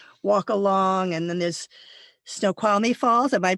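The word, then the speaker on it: Snoqualmie Falls: watch whales and walk along and then there's snow qualy fall am I pronouncing that correctly which is very famous yes snow qualy falls is absolutely gorgeous again one of these Cliff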